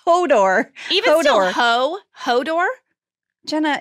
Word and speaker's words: Hodor: Is it like Hodor? Oh, sorry. I said it wrong. Hodor? It's Hodor.